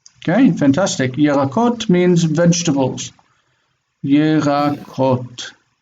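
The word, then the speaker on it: ירקות: Yerakot. If the accent is unmarked, you see this one marks the accent. If there's no marked accent, assume that the accent is on the last syllable, because we don't mark accent on the last syllable.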